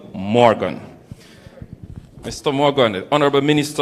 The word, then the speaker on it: Morgan: You see, he's laughing at me, because I keep calling him Robert Nestor Marley. But I shall remember it's not Marley, but it's Robert Nestor Morgan.